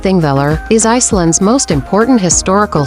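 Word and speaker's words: Þingvellir: King Viller National Parking Villa, pronounced ThingVilla, is Iceland's most important historical site and a geological wonder.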